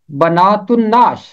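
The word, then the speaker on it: بنات النعش: इसका तलफ़ुज़ है बनातुन्नाश, बनातुन्नाश। ते मिलेगा नून के साथ, क्योंकि नून है हरफे शमसी। अगर अलिफ लाम के बाद हरफे शमसी है तो फिर लाम की आवाज खामोश रहेगी।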